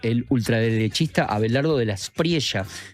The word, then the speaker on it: Espriella: ultraderechista Abelardo de la Espriella. Viste que los colombianos le dicen, pronuncian la L como nosotros, ¿no? La L, no dicen Espriella, como uno podría pensar, claro.